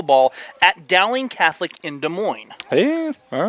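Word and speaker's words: Des Moines: that's really interesting the ding Catholic pipeline from De Mo or as we like to say it here in Kansas desmon no no you like to say that no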